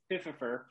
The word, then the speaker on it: Fififer: Fififer Island. That's how you pronounce it. If anybody's curious, it's Fififer.